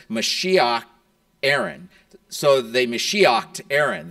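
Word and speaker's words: משיח: Mashiach. Mashiach Nagi, the Messiah, the Prince.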